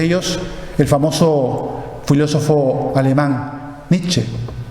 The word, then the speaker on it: Nietzsche: el famoso filósofo alemán Nietzsche, o Nietzsche realmente como se pronunciaría en alemán, de ese libro, de un erudito.